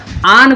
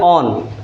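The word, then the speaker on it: on: आन बोलिएगा इसको, आन, एकदम मुंह खोल के आन बोलिएगा। कुछ लोग मुंह में दबा के बोलते हैं ऑन, ये गलत प्रोनाउंसिएशन है। आन बोलना है, ऑन the table, ऑन the chair, ऐसे बोलना है।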